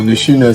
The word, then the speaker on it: Nechine: Bon, Nechine, c'est la prononciation de mon nom en ma langue maternelle.